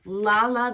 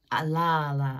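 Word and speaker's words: Lalla: Lala, I like to say it like that.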